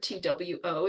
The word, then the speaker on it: two: we see that the the W was in there but we don't pronounce it so it's a silent W so these two reasons